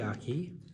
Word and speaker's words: Miyake: It's Miyake.